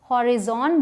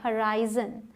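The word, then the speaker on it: horizon: अब है ये जिसे बहुत सारे लोग शायद हॉरिजॉन बोलते हो, लेकिन इसकी प्रोनाउंसिएशन है हराइजन। हराइजन, ठीक है। ज की प्रोनाउंसिएशन आएगी, इसका ध्यान रखिएगा।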